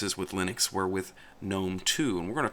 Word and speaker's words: GNOME: desktop environment we're going to talk about is gnome also called Gunn gnome by some people in the community I have been calling it gnome for 20 years so that's the way I